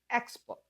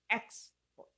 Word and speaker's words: export: a verb, the stress shifts to the second syllable. It becomes record. Record. Interesting, isn't it? Let's look at another example. Export. Export. Export.